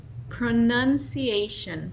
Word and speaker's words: pronunciation: Es la palabra pronunciation. Pronunciation. Pronunciation. Yo, por un tiempo, solía decir pronunciation. No es correcto. Y creo que eso pasa porque el verbo pronunciar es pronounce, pronounce. Pero pronunciación es pronunciation.